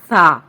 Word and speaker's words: ث: کے مطابق پڑھنا ہے، یعنی با، تا، سا، اور اردو تلفظ سے نہیں پڑھنا۔ اردو تلفظ یہ ہے بے، تے، سے، کیونکہ عربی حروف تہجی میں بڑی یہ کی آواز اے نہیں ہے بلکہ یا ہے، ٹھیک ہے، اس کا